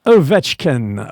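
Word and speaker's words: Ovechkin: Yes, it's Ovetchkin.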